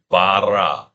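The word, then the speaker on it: ברא: How do you say it? You say barra.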